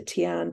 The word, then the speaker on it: Tian: I know it should be pronounced Tien, but I have a sister Teen, and so we anglicised it to Tian just so it wasn't so confusing.